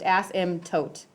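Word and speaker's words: asymptote: there so it's just Asim tote M there's a p in there I think people want to pronounce that but it's not pronounced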